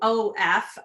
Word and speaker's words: of: So OF for of is an entirely irregular word. You just would not predict that pronunciation from those letters.